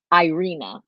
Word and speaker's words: Aryna: for you, or they say what the correct pronunciation is, but I couldn't find it. So I just Is that Aryna or Aryna? Aryna.